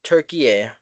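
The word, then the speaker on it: Türkiye: Turkey They are or Turkeye, pronounce that correctly.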